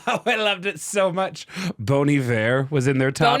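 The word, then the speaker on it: Bon Iver: 2012 where I went actually it's pronounced bony there it's a play on a French word for good winter I don't know if you know that or not but it's actually bony it's bony fa 303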